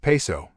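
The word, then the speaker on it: Piso: He writes, the New Testament, the Church and Christianity, were all the creation of the Calpurnius Paizo, pronounced Peso, family, who were Roman aristocrats.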